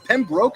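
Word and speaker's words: Pembroke: It's at the Wolf Sten here in uh is it Pemrook? Is how you say it? Pen Brook. Pen Brook. It is pen broke.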